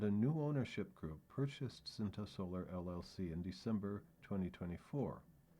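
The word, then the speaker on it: Scinta: In 2022, Cinta Solar, Cinta is spelled S-C-I-N-T-A, I think it's pronounced Cinta.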